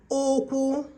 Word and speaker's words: Okwu: You will also see here that number 18 and number 21 are having the same spelling but different pronunciations and different meanings. Number 18 says Ukwu, which is waist. Number 21 says Okwu, which is the leg.